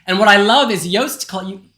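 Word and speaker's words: Joost: what I love is yast roast rhymes with roast it's yast yast Klein don't roast yast I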